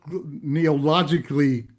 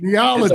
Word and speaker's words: Neology: We have Rafael Calderon from the neological neologically I'm pronouncing it wrong. Neology. Neology. Neology group. I'm trying to put so many syllables in there.